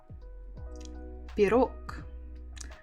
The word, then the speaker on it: Пирог: So stress on the second syllable. Пирог. Пирог. Пирог. And again, if you have really good listening skills, you can hear that I don't say G, I say K. It's just to make it easier.